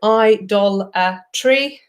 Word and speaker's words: idolatry: an abstract noun and I've broken it down into four syllables for you so a syllable is like a beat within a word and idolatry has four so I doll a tree if you wanting to